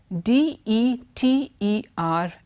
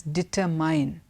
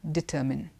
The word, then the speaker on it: determine: Secondly is the word D-E-T-E-R-M-I-N-E. There are many people who pronounce it as determine. The right pronunciation is determine. You need to determine if this is right or wrong.